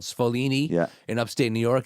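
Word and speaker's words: Sfoglini: So, the original version of Cascatelli is made by a company called Spolini in upstate New York. It's spelled SF O G L I N I. It's the G silent, but it's in stores around America.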